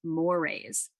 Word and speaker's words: mores: is called folkways and the other one here is pronounced morays they almost rhyme in that way that's how you can